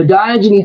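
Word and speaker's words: Diogenes: Um, the Diogen Club is spelled, you know, the D I it's spelled like Dio jeans.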